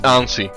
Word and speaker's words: ANSI: Is it the correct pronunciation? I mean, it's not correct, but is it close? I don't know. It's ANSI.